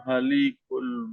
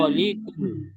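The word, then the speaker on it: الخالق: Wallahul halikul bari. Huwallahul khaliqu Wallahul halikul baril. khaliqul. Panjang khonya, Pak. Di situ ada Kholi sakal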